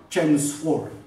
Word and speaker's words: Chelmsford: Then onwards, Lord Chelmsford. In his spelling, why L is put, I don't know, but not called as Chelmsford. L is silent.